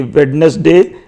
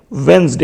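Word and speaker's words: Wednesday: कई बार आपको प्रोनाउंसिएशन बताई है, ये वेडनेसडे नहीं होता है, क्या होता है? वेंसडे होता है। यहां पर डी क्या है? साइलेंट है।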